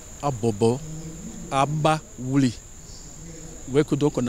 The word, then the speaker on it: Abobo Baoulé: La cérémonie de lancement officielle s'est tenue ce jeudi à Abobo Baoulé, déformation du nom d'origine du village. La prononciation c'est Abobo Abaoulé.